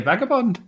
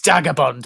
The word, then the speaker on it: Vagabond: I'm traveling with my friend here, Vagabond. Vagabond. It's Dagabond, but it's Dagabond. Oh, is the V pronounced as a D?